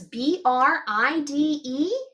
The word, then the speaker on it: bride: Did you spell yours B-R-I-D-E? I did too. Bride. Don't forget that silent E on the end.